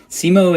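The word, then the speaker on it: Semo: Simo is S E M O. It's all one word, but yes, that's how you pronounce it.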